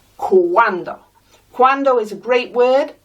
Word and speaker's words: cuando: In Portuguese, in Italian, it's spelt with a QU, but we know that en español, QU makes a K sound, and we're not saying cando, we're saying cuando, so we're spelling it with a C-U-A, en español.